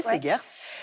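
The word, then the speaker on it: Seghers: C'est aux éditions Segers, je prononce bien Segers? Oui, Segers.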